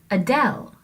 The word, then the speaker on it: Adele: singer Adele that's because we have an unstressed syllable first uh and then del is the stressed syllable if you were talking about the singer Adele you couldn't say Adele you have to say Adele so the little up of Adele is much less stressed than the del portion of that name so hopefully this is